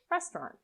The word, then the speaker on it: restaurant: is missing which syllable the a u is often not pronounced so you can link directly from the t to the r restaurant look at five more